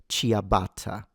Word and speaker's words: ciabatta: No one says CIABATTA. It's cha, cha, cha, cha. And in fact, the only reason why the I is there is to create the sound ch, because without the I,